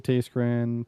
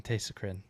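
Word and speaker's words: Tayschrenn: Um he pronounces taste grin powder sail whiskey jack buke piron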